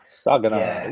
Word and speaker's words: Saginaw: Yeah, You can tell Yog how to pronounce it properly. Saginaw.